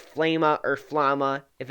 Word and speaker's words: Flama: It's sort of pronounced two different ways depending on which way you read it, but I like to pronounce it Flama.